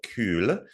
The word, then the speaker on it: Kühl: The theater is currently operating, but there's a new development planned for that site, and it's called Kühl, with U with an umlaut, so a German pronunciation.